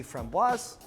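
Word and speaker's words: framboise: peach if you see from boss yes you pronounce the S because there's an e at the end which makes it feminine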